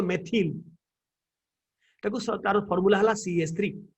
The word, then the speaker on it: methyl: then il methyl ताको के मिथाइल Billy कहंती बट it should be properly pronounce मन रको pronunciation proper हबो मेथिल ताको तार फार्मूला हला